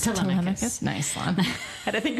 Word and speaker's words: Telemachus: But I think they were just showing Temeculus. How did he say his name? The son. Telemachus. Telemachus.